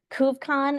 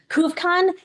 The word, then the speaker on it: Couve Con: CoveCon, CouvEcon. So like instead of Comic-Con, CoveCon. And Couve, like Vancouver.